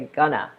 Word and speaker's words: gonna: words so for example going to becomes gonna you might be thinking gonna doesn't sound like going to that's correct think of it like a sandwich we put these words together we just cram them together and we say Gunna all right these words